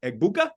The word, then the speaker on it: Egbuka: Rabbi, pronounce this for me. Egbuka?